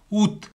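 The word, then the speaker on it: août: இதில் பாருங்க, ஆவில் தொடங்குது, ஆ என்ற எழுத்தை நாங்கள் உச்சரிக்க மாட்டோம், ஊத் என்று உச்சரிக்கிறோம். அப்போ இதில் கடைசியில் தே வருது, அதை உச்சரிக்க வேணும், ஊத்.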